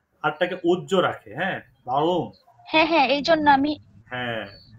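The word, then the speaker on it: Warum: একটা স্পেশাল উচ্চারণ আছে আর টাকে আসলে আর এর মত করে ওরা উচ্চারণ করে না আর টাকে উজ্জ্ব রাখে হ্যাঁ ভাগুম হ্যাঁ হ্যাঁ এইজন্য আমি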